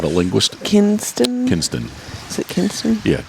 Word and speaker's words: Kinston: How do you pronounce the town? Because I'm not a linguist. Kinston. Is it Kinston? Yeah, Kinston.